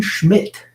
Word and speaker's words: Schmidt: I am here with Aaron Schmidt. How do we spell your last name? S-C-H-M-I-D-T? Yeah, S-C-H-M-I-D-T. The D is silent.